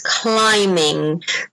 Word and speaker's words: climbing: the last one is climbing remember that the bee is silent in this sport okay a few more